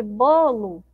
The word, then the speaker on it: bolo: Bolo. Qual eu demorei mais tempo falando, ó? Bolo, bolo. Então, essa sílaba aqui, ó, bó, ela é mais forte, tá bom?